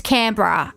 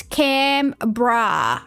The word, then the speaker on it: Canberra: It's Cambra. At least look up how to pronounce it. It's Camra. All right, two syllables. Imagine you've got a can of beer and you put a bra on it.